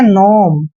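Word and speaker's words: gnome: करना ही नहीं है इसको गनोम नहीं पढ़ना है इसको सीधा हम क्या पढ़ते हैं नोम ऐसे नोम क्लियर नोम जैसे फॉरेन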